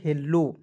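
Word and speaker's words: hello: चलिए एच E double L ओ क्या पढ़ेंगे दोस्तों, हेलो। देखिए एच का ह लिखते हैं, इससे एक की मात्रा, एक एल को इसमें साइलेंट रखेंगे, एल से होता है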